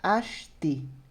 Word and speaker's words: acheter: A pronúncia é acheter. Ash, ó, com CX, né? Acheter. Acheter. D'accord? Acheter. Eu ignoro totalmente esse E.